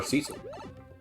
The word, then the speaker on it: Cecil: him what was it was it cecil or cecil i think you could say it either way but i forget what